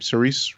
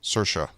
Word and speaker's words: Saoirse: I knew how did you say her name cerise Ronan Saoirse Saoirse Saoirse Ronan I knew she was in